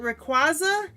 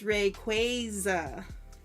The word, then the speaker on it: Rayquaza: And I'm like, no, that's not how you say his name. Because that one I know, because at one of the competitions for Pokemon, like card tournament, they said it's Rayquaza.